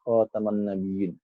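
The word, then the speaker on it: خاتم النبيين: Gigin khatamun nabiyyin Dik jangan eh salah kita membacanya ya jangan salah kita membacanya inilah kotaman nabiyyin bukan hutan kalau kan bercincin Ya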